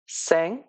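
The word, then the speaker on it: cinq: হলো cath four cath তারপরে হলো ফাইভ এটার প্রোনাউন্সিয়েশন হলো স্যাংক সো ফাইভ এটা হলো স্যাংক এবং সিক্স এটার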